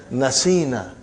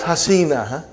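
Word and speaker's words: نسينا: You will pronounce as nasina. Not hasina.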